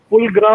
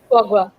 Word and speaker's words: foie gras: There is a French name, I can't pronounce it correctly. It's called Fulgra or something like that. Foie gras.